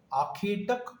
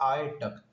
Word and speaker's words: आखेटक: के बोल रहे हो, आखेटक को बन जाता है आए टक। ये इज इट एक्सेप्टेबल? यस और no, loudly please. No way acceptable. और इंग्लिश भी मैथजी.in स्टूडेंट्स के लिए तो बिल्कुल भी नहीं है। आखे टक बोलो। वो खे नहीं होना चाहिए, आखे होना चाहिए।